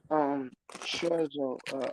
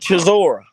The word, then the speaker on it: Chisora: Cause I remember Usyk fighting what's it Scherzo, how you pronounce his name? I like that nigga too. So Fury fought him too and beat him. Derek Chisora.